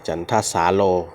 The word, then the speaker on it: จันทสาโร: ทาง นี้ อ่าน ว่า จันทร์ ท สาโล อ่า จันทสาโร นะ ฮะ ลวง ของ พระ ครู นะ ฮะ